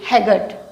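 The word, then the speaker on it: haggard: हो यू are looking हैगर्टी ए आरडी इसको हैगा नहीं बोलेंगे आर भी यहां पर साइलेंट रहेगा बोलने बोलते समय लिखते समय रहेगा तो क्या होगा है गर्ड यू are looking हैर्ड next sentence क्या है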